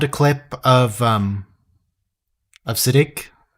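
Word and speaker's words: Siddig: full name on there sorry siddique not acidic siddique it'll take some it'll take some time to readjust to the correct pronunciation that i found siddique el tahil anyway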